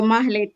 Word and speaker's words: Mahlet: Yeah, with an H, so Mahlet.